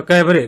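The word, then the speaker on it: cabaret: आगे है कैबरे, यहाँ पे टी साइलेंट है भैया, देखो कुछ चीजें लिखा जाता है मगर पढ़ा नहीं जाता। तो कैबरे, कैबरे मतलब होता है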